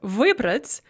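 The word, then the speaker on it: выбрать: we see that here the imperfective vibrates has the stress on the final syllable on ah whereas the perfective vubrits has stress on the and when this happens the stress remains fixed on the e in the prefix all throughout the paradigm so that's one thing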